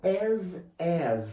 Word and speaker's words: as: Now, going to as. First of all, guys, be careful with this word, the pronunciation. There is like a Z sound in the end.